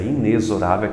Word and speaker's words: inexorável: Se você não sabe o que é a palavra inexorável, nem como se pronuncia, que você está pronunciando inexorável, mas é inexorável, que é um som de Z, quanto menos o significado dessa palavra.